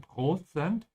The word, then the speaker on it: Prozent: Ich bin zu 85%, notice how I'm saying prozent, in English it's percent, in German it starts with pro, ja, prozent sicher.